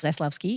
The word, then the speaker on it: Zaslavsky: My name is Alice Zlovski. It is phonetic, but it's actually quite difficult for people to pronounce, let alone spell.